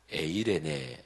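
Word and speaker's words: εἰρήνη: 헬라어로 원래가 쓰여 졌는데 헬라어로 발음하면 에이레네 라고 발음을 하는데 우리 그리스도인들에게는 샬롬 이라는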